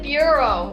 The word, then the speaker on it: bureau: you got one point you said burro apparently yeah but i meant bureau i just don't know how to i just didn't know how to pronounce it you don't know where